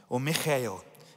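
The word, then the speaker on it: Michal: As the ark of the Lord was entering the city of David, Michael is how you pronounce it, Michael, daughter of Saul, watched from a window.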